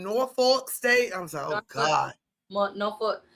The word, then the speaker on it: Norfolk: Nor just I know it spelled North Fork, but we just say Norolk. Nor it just OT be cracking me up. They be saying Norolk state.